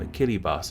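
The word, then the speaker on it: Kiribati: took on the name a Kelly bus which is the local pronunciation of Gilbert though the country isn't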